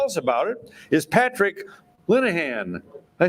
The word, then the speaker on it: Linehan: And to tell us about it is Patrick Linehan.